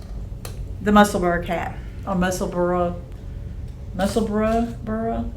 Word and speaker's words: Musselburgh: And um Yeah, so the Musselburgh hat or Musselburgh Musselburgh burra? Is it supposed to be like Edinburgh? It's spelled like Edinburgh. Yes, I would say Musselburgh.